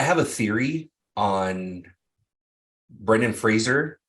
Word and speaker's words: Brendan Fraser: It's not Fraser. It's Fraser. Brendan Fraser The It Golden is? Globe. Yeah, it's Fraser. He's cleared it up. It's not Fraser, it's Fraser. Huh. Like a razor.